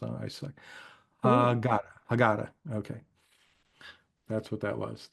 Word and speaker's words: Haggadah: So Karen in the chat pronounced the word for me because she's always good with pronunciations. I suck. Haggadah.